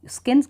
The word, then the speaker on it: Skene: ये जो स्किन्स gland है तो इसे हम प्रोनाउंस करेंगे स्किन्स ग्लैंड।